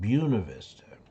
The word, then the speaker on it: Buena Vista: And there's one in Colorado called Buena Vista, but they're not going to pronounce it the Spanish way. They pronounce it Buena Vista.